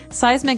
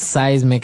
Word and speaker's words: seismic: And so seismic activity refers to earthquakes and volcanoes, things that are changing under the ground that will affect us. Okay. So that's seismic activity.